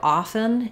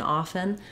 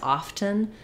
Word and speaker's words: often: so the story of often is that um the correct pronunciation is without a t um the t is silent and often but it was mispronounced so much as often uh people started to